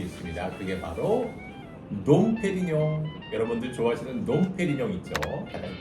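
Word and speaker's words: Dom Pérignon: 이거 같은 경우에도 이제 저도 가끔 들어보면은 놈으로 발음하시는 분들이 많은데 얘 같은 경우에도 놈이 아니라 프랑스로는 농이 들어가는 순간 프랑스에서 이제 웅 발음이 되는게 맞기 때문에 빼용 요렇게 발음하시는게 올바른 발음이죠.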